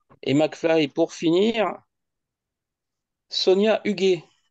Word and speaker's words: Huguet: Huguet, tu l'écris Huguet. Absolument. Ouais, donc ça se prononce UG. Non, Huguet? Non, si un U derrière le G, ça fait que c'est un G, c'est pas un J.